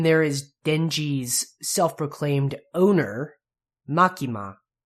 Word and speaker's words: Makima: is just Katakana and keep in mind that the first syllable and the last syllable are going to be pronounced exactly the same so no makima M at the end like that it's ma makima makima kind of sounds like I'm saying Marky Mark with a really heavy Boston accent next is